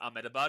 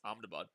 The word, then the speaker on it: Ahmedabad: It's also not pronounced Ahmedabad, it's Amabad.